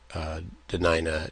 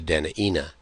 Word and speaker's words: Dena'ina: Note we have talked about how other parts of Dena'ina territory, the pronunciation is Dena'ina. Dena'ina. So it's not a matter of who's right, who's wrong. It's a matter of local variation. And so we honor both versions.